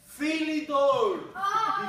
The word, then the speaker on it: Philidor: It rhymes with rough. Philidor defense. That's the way we call the defense. Philidor.